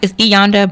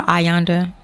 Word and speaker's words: Iyanda: It's Iyanda, but I prefer Ayanda. I know my dad hates that, but it's spelled with the I, like Ayanda.